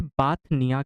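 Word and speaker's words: Bothnia: इसे कहा जाता है बाथनिया की खाड़ी। बोथनिया, बीओ से होता है स्पेलिंग।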